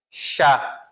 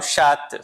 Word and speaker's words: chat: Chá, certo? Não pronuncio o T, eu não falo chat, falo chá.